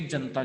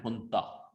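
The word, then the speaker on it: junta: Actually जनता नहीं, इस word का प्रोनाउंसिएशन है हुंता, ये जे की जगह एच से प्रोनाउंस होता है, ठीक है, पर जस्ट टू से जनता, ठीक है, पर एक्चुअली इसका वर्ड अगर प्रोनाउंसिएशन में राइट वे में बोलना हो तो ये हुंता हो।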